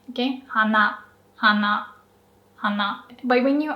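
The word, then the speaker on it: 花: as a kid so both nose and flower on its own it's pronounced exactly the same okay hana Hana hana.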